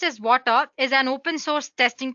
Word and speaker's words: Watir: WATIR, basically, it's pronounced as Water, is an open source testing tool made up of Ruby libraries to automate web application testing.